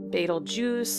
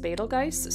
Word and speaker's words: Betelgeuse: and there are some well-known stars such as Betelgeuse, or some pronounce it Betelgeuse or Betelgeuse. I was taught that it was pronounced Betelgeuse, so that's the way I kind of, that's my default pronunciation of it.